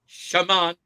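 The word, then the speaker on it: Chamon: But anyways, Warhawks, it's Shamant Mateer of Arizona State.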